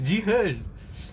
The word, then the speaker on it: Jihan: My name is Ji-hen.